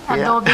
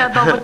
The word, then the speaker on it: adobo: Adobe. Yeah. Mark said adobo chicken. Now you can pronounce it adobo chicken, right?